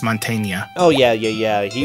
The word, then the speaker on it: Mantegna: main actor for Eddie is Joe Mantegna I think it's called pronounced Montaigne oh yeah yeah yeah